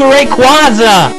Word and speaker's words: Rayquaza: yeah wingal also played a major part in Rayquaza's capture well apparently the proper way to pronounce it is Rayquaza but I've pronounced it